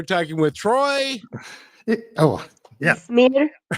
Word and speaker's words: Ismir: by the way, we're talking with Troy Oh, yeah, Ismir. Ishmir and Ismir, and yeah. You throw the H in there.